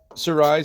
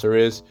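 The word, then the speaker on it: Cerise: And the main idea of this story is that Sirise or Sir, her name is actually pronounced Siz who is of Shi origin.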